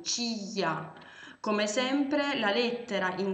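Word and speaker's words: чья: Quindi, un pronome per i sostantivi maschili che si legge chei. Un pronome per i sostantivi femminili, chia.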